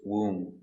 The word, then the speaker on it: womb: No b, just womb. Womb. The baby is in the womb for 9 months. Pronunciation, womb. W. Ooh. Long ooh. Woo.